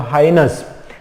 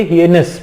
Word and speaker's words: heinous: Word है आपके सामने, फर्स्ट वाला जो वर्ड है हीनस, ठीक है, या हाइनस, है ना। इसको हम कैसे पढ़ेंगे? हियनस, हियनस इसको पढ़ते हैं, है ना।